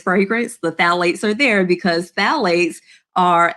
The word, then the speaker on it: phthalates: The first one is phthalates. And you're like, the P is silent with phthalates.